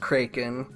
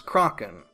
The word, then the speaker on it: kraken: and produce the last episode that it's not pronounced krey-kin and the Americans that I talked to my